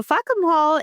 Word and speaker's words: Fackham Hall: Well, my Sushi, this week we have our first movie, Fackham Hall, pronounced in an English accent as if they're saying fuck 'em all. So Fackham Hall is a wild period